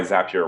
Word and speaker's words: Zapier: in the zapier website that's why zapier rhymes with hap here enjoy more free time